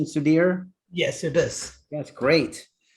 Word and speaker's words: Sudhir: also with sudir nambiar is that the right pronunciation sudhir yes it is that's great great we are